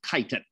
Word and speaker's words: chitin: complex carbohydrate called chitin spelled chitin but we pronounce it chitin that's what makes up the cell walls of